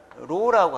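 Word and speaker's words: ρ: 발음은 로라고 합니다.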